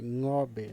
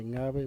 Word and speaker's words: Ngäbe: Se dice ngobe, no se dice ngabe, mucho menos nobe. Se dice ngobe.